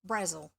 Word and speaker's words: Brazil: And yes, it looks like Brazil, the name of the country, but it's actually pronounced Brazil, probably because she was going to get hassled by people at school.